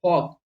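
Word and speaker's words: fork: होनी चाहिए ठीक है तो ब्रिटिश इंग्लिश में क्या है कि ई का आर का प्रन हम लोग नहीं करते हैं लास्ट में आ कहीं पर भी आए जैसे कि फॉक लेकिन हम लोग अमेरिकन इंग्लिश में इसको फर्क बोलते हैं एफ ओ आर के तो ब्रिटिश बोल रहे हो तो आर का प्रोनाउंस नहीं करोगे लेकिन अगर आप अमेरिकन बोल रहे हो तो आपको करना पड़ेगा तो इतना माइंड मत लगाओ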